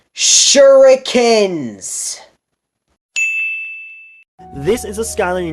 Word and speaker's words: shuriken: a fire kick move was even better it's pronounced shuriken this is a skyline you need to base